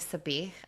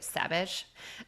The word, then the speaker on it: sabich: It was so delicious, but I did not know how to say sabich. I was saying it in the Chicago way, savage.